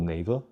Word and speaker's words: Naver: engine in Korea called Naver. I think it's supposed to sound like neighbors, but they spell it with V.